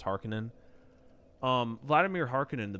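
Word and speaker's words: Harkonnen: was a kid I used to call them harkonen but it's actually pronounced Harkin um Vladimir Harkin and the baron uh I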